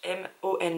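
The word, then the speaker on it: Hmong: envie d'être insultant mais ça s'écrit h M o ng g donc je dirais Mong mais je sais pas si le H se prononce ou pas c'est de Vicky liffung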